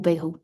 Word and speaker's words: Bayrou: I think there are lots of rumors as to why Macron picked François Bayrou or Bayrou. It depends who you listen to, where they're from in France and how they pronounce his surname.